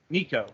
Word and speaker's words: Nicou: How do you pronounce that? Nicou.